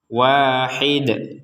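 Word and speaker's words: واحد: sini ya Wid Nah di sini kita berhenti maka huruf dalnya ini kita pantulkan Wahid Wahid dipantulkan kemudian nah berbeda dengan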